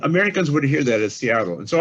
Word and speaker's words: Seattle: would hear that as seattle and so i chose seattle because it's actually closer to the original pronunciation than self which is